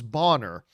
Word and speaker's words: Bonner: It's a German name. His name was Bonner, but she pronounced it Boner.